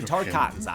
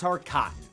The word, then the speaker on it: Tarkatan: Joining her in side-swapping is creepy dead guy's Ermac, leaving Melina with only Tarkatans on her side. And yes, it's pronounced Tarkatan.